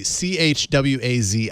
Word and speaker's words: Chwazi: Choisi, Chwazi, if you're searching in the Google, in the Play Store.